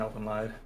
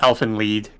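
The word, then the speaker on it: Elfen Lied: anime elephant live theme i've never seen elven lied i'm probably saying it wrong too now that i think about it it's uh elfin lead i knew it yeah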